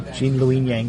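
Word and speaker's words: Gene Luen Yang: best rider was Jean lyang say his name jeene L Yang yeah for avatar for Dark Horse I suppose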